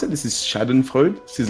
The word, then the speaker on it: Schadenfreude: I might mispronounce it. This is Schadenfreude.